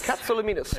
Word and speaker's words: Katsilometes: I can imagine you are, because nobody in the world can pronounce it even Katsilometes. Katsilometes.